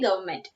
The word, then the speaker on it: government: Then government, N is silent, so we have to say government.